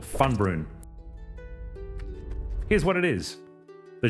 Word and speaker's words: FUNBRUN: The name is pronounced FUNBRUN. Fun, literally fun. Brun lands in Old Norse, and built into that